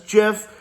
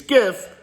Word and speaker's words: GIF: say it's just because the dude that designed it says it's Jeff and you can say all you want you can give me all the pronunciations you want it's freaking Jeff and I don't care if you don't like me saying Jeff and you think it's gift we're just gonna have